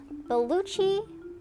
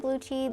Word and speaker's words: Belucci: All right, next up on the list is Belucci. Belucci? I think you pronounce it like Gucci, so I'm hopefully I pronounced it right.